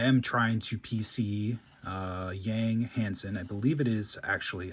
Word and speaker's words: Hansen: I am trying to PC Yang Hansen. I believe it is actually Hansen. The sort of the soft A, soft E, the Chinese pronunciation.